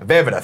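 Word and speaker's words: Vejvoda: Vida, thank you. I was going to say Ven. Don't pronounce the J.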